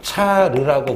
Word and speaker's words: 차르: 러시아의 황제를 러시아의 황제를 차르라고 불러요요 차르가 뭐냐 로마의 카이사를 아시죠 거의 황제가 됐는데 암살당했잖아 카이사르 카이사르 그래서 카이사르의 러시아 발음이 차르야 차르 그래서 자 차로만 너무